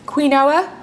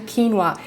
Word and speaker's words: quinoa: called organic quinoa quinoa when you look at how it's spelled it looks like it said quinoa nope it's actually quinoa and it's actually known